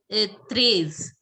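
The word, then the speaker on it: treize: 13, how will you pronounce? Trays.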